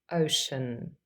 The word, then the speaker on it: ocean: And lastly, the third C is a Sh sound in ocean.